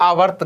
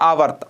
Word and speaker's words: आवर्ती: दोनों के उच्चारण में भी फर्क है। वो है आवृत्ति, यह है आवर्ती।